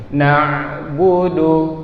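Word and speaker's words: نعبد: Jadi na'budu, pasti suara lari ke hidung.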